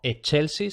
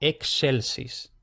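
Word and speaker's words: excelsis: Entonces, por ejemplo, exelsis. Exelsis. Y como digo aquí, cuidado, no che, no Chelseis, que eso se oye mucho, no, no Chelseis, sino exelsis.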